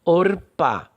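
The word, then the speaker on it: עָרְפָּה: Porque Or é uma sílaba e Pá é outra sílaba. Orpá. Orpá. E por que é Or? Justamente por conta desta regra do Kametz Katan.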